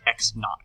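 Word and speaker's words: x₀: um position now minus the initial position pronounced x naught that little subscript zero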